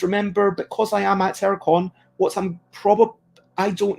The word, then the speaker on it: Airecon: um and oh aircon when i talk about aircon it's not air conditioning it's air spelled with an e a i r e so there is a